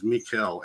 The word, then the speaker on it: Michael: And it wasn't until I was listening to a podcast about the archangels that I heard somebody pronounce Archangel Michael as Mikkel, and I was like, that's another angel reference.